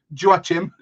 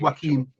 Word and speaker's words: Joachim: the new season um you still think it's pronounced Joachim I know it's not that like I know it's not Jewish it's not phonetically I think it's Joaquin Anderson from police I